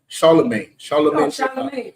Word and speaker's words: Charlemagne: How you pronounce the name? Charlemagne. Charlemagne.